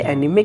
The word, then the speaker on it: anime: भी नहीं पता कि एनिम नहीं होता है, एनीमे होता है।